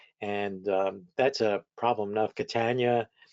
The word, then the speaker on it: Catania: Catania. Well, the simple way to spell that up is to say rhymes with Britannia.